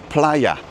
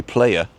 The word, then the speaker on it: Playa: want I see Canaria bla oh and that's pronounced Playa cuz there is no a in Spanish there's an e but there's no a so we would say player right yeah because we pronounce the first a